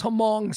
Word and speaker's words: Hmong: And, you know, not for nothing, but again, we go back to this Hmong citizen. Hmong citizen. I keep pronouncing the H, but whatever, that's what I do.